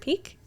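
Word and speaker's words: Piqué: play Man United previously and Bayern Munich Gerard PK Gerard Peak very nice yeah you're right Gerard P nice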